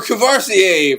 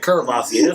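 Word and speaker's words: Courvoisier: More Cavassier for the niggas. Like, you can't do that. More what? How'd you say that again? Cavassier. He said Curvassier.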